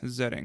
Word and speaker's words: Zetting: Today I have with me Dennis Zetting. Am I pronouncing that correct?